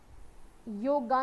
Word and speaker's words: योग: we talk about योग योगगा नहीं होता योग होता है मोस्टली लोग योगा योगा करते हैं वो योग है इंग्लिश में तो राम को भी रामा लिख देते हैं तो आप रामा थोड़ी ना बोलोगे आप इसे योग बोलोगे बट आदत वाली बात होती है योगा बोलने की आदत है तो कई बार हम योगा बोल देते हैं यह वर्ड